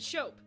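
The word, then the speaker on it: scop: This was another story told orally by the local storyteller, or the Shope. Yes, it is pronounced that way.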